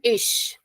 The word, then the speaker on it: ig: So the first is IG. So whenever you will see IG in a word, the pronunciation will become ish. So sh of Hindi. Yeah, ish. So IG is pronounced as ish.